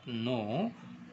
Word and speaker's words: know: நோ, KNOW நோ. இந்த கே வந்து silent ஆயிரும். நோ, கேக்கு என்ன உச்சரிப்பு? கு. இது நோ, நோ. அதில் கே சைலண்ட் ஆயிரும். அப்போ எப்படி சொல்லணும்? நோ. That, THAT that.